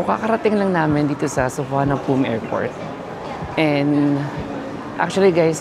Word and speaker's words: Suvarnabhumi: So kakarating lang namin dito sa Sofan Pom airport. And actually guys medyo nalito din ako sa pronunciation niya because yung spelling niya parang suvarnabi. So sabi nila isapom airport.